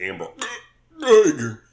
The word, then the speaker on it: Amber Geiger: Yeah, her name is Amber Geiger.